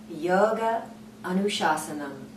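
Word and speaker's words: yoga anuśāsanam: the entire yoga Sutra text that Sutra is pronounced yoga anushasanam and so we have the students work on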